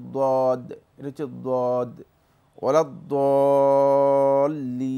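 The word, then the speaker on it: الضالين: জোয়াল্লিন শব্দ শুদ্ধ নয়, এটা জোয়া নয়, জোয়া একটা ত জোয়া একটি রয়েছে আরবি ভাষায়, এটা হচ্ছে মূলত দদ, এটা হচ্ছে দদ ওলা দলিন। এখানে মূলত উচ্চারণটা একটু নরম হবে, মানে দোয়ের উচ্চারণটা, দোয়াদের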